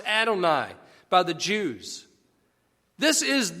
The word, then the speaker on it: Adonai: That's pronounced Adonai by the Jews.